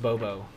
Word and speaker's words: BOBO: So B O B 0, pronounced Bobo, which means bigger on bottom, you get 0.